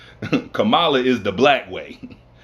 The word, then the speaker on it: Kamala: He follows that up with choosing Kamala Harris as his, I'm sorry, Kamala. Let me pronounce it right. Kamala is the black way. Kamala is the proper pronunciation, which is the Indian way.